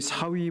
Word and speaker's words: 사위: 어느 날 그동안 많이 공들였던 그 한 부족을 이제 계속 방문하고 있었는데 그 부족이 이름이 사위 부족이에요. 사위. 뭐 우리 사위, 그 사위가 아니라 발음이 그렇다는 얘기. 사위 부족.